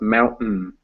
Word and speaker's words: mountain: mountain, but it's pronounced mountain. Mountain. Oh, Hmm very hard. Yeah, that T. What actually happens there is that T transforms into a different sound, which I don't know